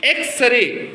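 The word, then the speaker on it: X-ray: इसका जो साउंड है देखो एक्सरे साउंड क्या है एक्सरे तो ए होने के नाते उसके आगे क्या लगेगा ए तो I have an एक्सरे machine I have an एक्सरे machine तो एक्स भले लगे कसनेट है लेकिन उसका जब प्रोनंसिएशन हो रहा है उसका पहले लेटर का प्रोनंसिएशन हो रहा है तो वल साउंड से शुरू है इसलिए उसके पहले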